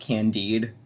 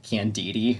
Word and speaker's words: Candide: like first of all he pronounced candide voltaire book candidi and i was just like what like like candida like a yeast infection um but he also